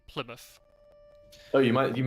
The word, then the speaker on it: Plymouth: Any place name in the UK, or at least in England, that has mouth at the end of the name is pronounced muff.